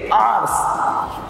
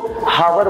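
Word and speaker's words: hour: इसको बोलेंगे आवर्स. कुछ लोग इसको हावर बोलते हैं, कुछ लोग इसको आवर बोलते हैं, बट राइट प्रोनंसिएशन है इसका आवर. एक घंटा है तो 1 आवर, दो घंटे हैं तो 2 आवर्स.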